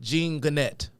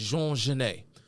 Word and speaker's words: Genet: If you look at it, and you try to pronounce it phonetically, you would probably pronounce it Genet. Genet. But the popular pronunciation of this man's name is Jean Genet.